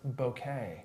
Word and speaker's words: bokeh: And I learned that it's pronounced bokeh.